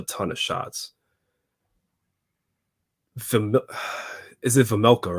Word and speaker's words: Vejmelka: Is it Vejmelka, right? Karel Vejmelka? Yeah. That's how you pronounce it?